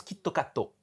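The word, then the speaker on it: キットカット: va passer ses examens parce que ça se prononce kitato ouais et en fait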